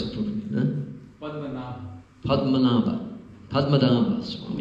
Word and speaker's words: Padmanabha: So this gentleman here, this Swami, Padmanabha. I never pronounce it properly. Huh? Padmanabha Swami. Nabha is umbilical. Padma is lotus. Padma, Nabha.